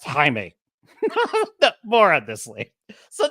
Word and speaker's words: Jaime: starts with um uh Jamie Reyes oh I'm sorry it's pronounced Jaime it's pronounced Jaime more of this Lee